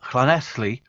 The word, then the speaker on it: Llanelli: So best wishes to my father, John Howell Williams of Llanelli. You notice the pronunciation.